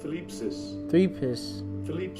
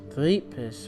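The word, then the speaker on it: θλῖψις: The Greek word here for tribulation, you got, let me see, I'm gonna get the pronunciation. Strong's G 2347. Thlipsis. Thlipsis, which means a pressure, okay.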